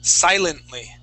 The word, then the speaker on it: silently: Now, this word here is silently. Same thing. The accent is at the very beginning of the word.